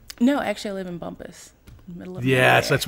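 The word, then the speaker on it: Bumpass: No, actually, I live in Bumpus, middle of Yes, area.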